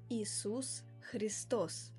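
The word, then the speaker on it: Иисус Христос: Inak v ruščine sa meno Ježiša Krista vyslovuje Isus Christos.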